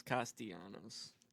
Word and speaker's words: Castellanos: pronounced his name wrong. It's Castellanos. Maybe you should have done the intro too.